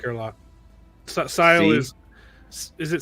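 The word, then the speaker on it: Syl: Sile is it Sile? Is it? I pronounce it Sil.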